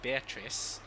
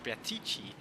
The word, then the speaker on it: Beatrice: regarding bear teaches pronunciation he pronounced her as beatrice uh which is what i did at the start as well the reason why i started branching her as briatichi is because that's what the voice actors in the visual